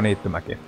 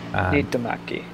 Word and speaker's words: Niittymäki: It's Mikko Niittymäki, because just in case you don't know how to pronounce his last name, it's quite difficult. Niittymäki.